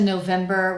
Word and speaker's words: November: And just like the other ones, our first syllable, even though it's a weak syllable, we are fully pronouncing the vowel, which in this case is o. So the diff thong, you need to say o. By the time you finish saying the syllable, your mouth should be in an ooh position.